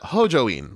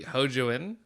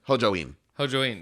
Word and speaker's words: Hojoin: like you know h-o-j-o-i-n everyone in the in the english dub pronounce it ho join like ho and then join like the like you join a conversation uh it's wonderful love love ho joined so much i'm never gonna ever pronounce that correctly again because it should be ho jouen ho jaween yeah yeah yeah because and that's how they they say it in the the sub